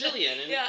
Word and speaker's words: Gillian: You've also been for Gillian. Is it Gillian or Jillian? Because she goes by Gilly, doesn't she? But it's Jillian, which confused me.